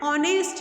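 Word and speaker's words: honest: एन ऑनेस्ट मैन. Now here देखिए ऑनेस्ट spelling हो रही है एच से स्टार्ट हो रही है बट एच इज a silent. आवाज़ क्या की निकल रही है? ओ.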